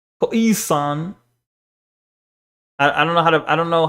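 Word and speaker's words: Khoisan: See, they give you pronounced K O E san. Koisan.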